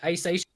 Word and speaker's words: Hisaishi: It's basically, like a like, Cockney guy saying, I want sushi, like, Hisaishi.